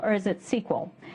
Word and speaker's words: SQL: pronounce it is it SQL or is it sequel my friends in industry tell me that sequel is the in pronunciation so that's the one